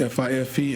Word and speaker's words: Fife: In addition to that, annual pass holders, VIP pass holders, perks, you can receive a 10% discount at Fife, I believe it is pronounced, F-I-F-E, and Drum, Fife and Drum, and Block and Hans.